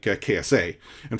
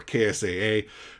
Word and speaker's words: KSA: impact of someone like KSA. And for those of you who are curious, well, isn't it KSA or KSAA? No, he actually shared on Twitter. He is KSA. That's how you pronounce it.